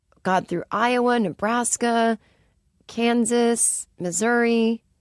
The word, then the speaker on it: Missouri: through Iowa Nebraska Kansas Missouri missourah as I was taught to say as a kid and no one really says that you know in a word you're pronouncing it correctly but you sound like an we I know it's technically missourah but I won't say